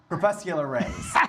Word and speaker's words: crepuscular: Crepuscular rays.